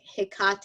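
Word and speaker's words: Hecate: to work with as a goddess called a Hickok hmm is how you pronounce it she's a goddess of the crossroads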